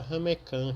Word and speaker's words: ramequim: essas forminhas de cerâmica se escreve ramequim né E se fala ramecã quer tem do francês geralmente utilizado para levar